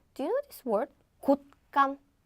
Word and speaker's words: 곶감: Okay, so not and 곶감. The pronunciation is simple because it sounds exactly the same as the previous ones, right?